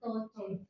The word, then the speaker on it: 多謝: Doce or toce?